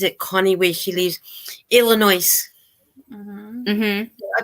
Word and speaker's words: Illinois: Connie where she lives Illinois mm-hmm I pronounce it with the yes but a lot say just Illinois because the S is silent but see I think